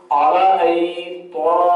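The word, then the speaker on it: أرأيت: हमजा ज़बर अ, रा ज़बर वा, आई हमजा या ज़ेर आई, हमजा या ज़बर आई, हमजा या ज़बर आई, आरा आई, तो ज़बर ता, आरा आईता। इस तरीके से इसको पढ़ते हैं।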